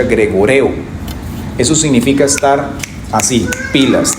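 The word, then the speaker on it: γρηγορέω: Cuando nosotros vemos en la Biblia esta palabra, viene de un griego que se pronuncia gregoreo.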